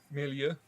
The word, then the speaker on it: milieu: Milieu. That's how I say it in English. Okay. How do you say it in French? Milieu.